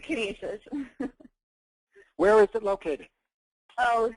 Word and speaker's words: Canisius: I can't even pronounce it at this point. No, that's right, Canisius.